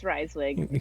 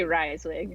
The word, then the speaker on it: Reiswig: It's Reiswig. Just say Reiswig.